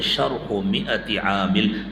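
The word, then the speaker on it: شرح مائۃ عامل: تھی۔ شرح مئۃ عامل، عام طور سے اس کا غلط تلفظ کیا جاتا ہے ہمارے مدرسے کے ماحول میں، پتہ نہیں کیا کیا کہتے ہیں، شرح مئۃ عامل کیسے؟ یہ ہے شرح مئۃ عامل، ہر لفظ کا صحیح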